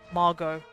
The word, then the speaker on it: Margot: get a bit stronger Margot okay so it's Margo silent T gotcha yeah my sister